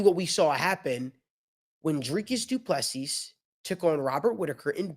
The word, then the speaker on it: Dricus Du Plessis: Guys, we've got a new UFC middleweight champion, and his name is Dricus Du Plessis.